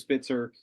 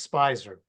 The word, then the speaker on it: Spizer: have uh an unbelievable re resource in Spitzer uh who has written now 12 13 20 how many books 16 books on the Beatles and it's actually and it's actually pronounced spyer Spicer sorry about that that's okay I've been